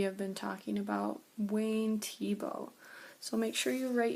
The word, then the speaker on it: Thiebaud: don't you alright Wayne Tibo this is how you spell his name but you say it like this t oh okay so we